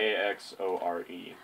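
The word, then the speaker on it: Vaxore: I can't spell it. V-A-X-O-R-E.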